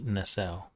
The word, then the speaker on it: Nassau: Actually, how's That it pronounced? Is said- it Nassau or is it Nassau?